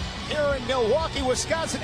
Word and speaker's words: Milwaukee: Here in Milwaukee, Wisconsin, actually is pronounced Mil-a-wah-kay, which is Algonquin for the good land.